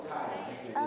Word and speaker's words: CAYA: Oh, it's CAYA.